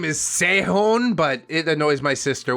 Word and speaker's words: Sehun: Sihon! OP. Human Connection Beard. Just kidding. I know his name is Sehon, but it annoys my sister when I say it like that.